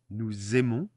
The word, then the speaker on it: nous aimons: So here again we have a liaison. Nous aimons le foot. Une liaison, a link. So the S becomes a Z.